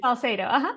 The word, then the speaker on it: Salcedo: It's Salcedo, is that right? Or is that, am I saying it correctly? Salcedo, Salcedo, okay.